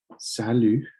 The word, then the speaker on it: salut: Some more familiar introductions would be salut. You don't pronounce the T.